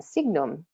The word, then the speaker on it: sign: but not always right so in sign that G is not being pronounced in design that G is not being pronounced but in signal it sure is and in resignation it